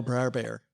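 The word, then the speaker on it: Br'er Bear: There will be no Bra Bear in uh No, you have to say it the right way. Bra bear. That's how they say it.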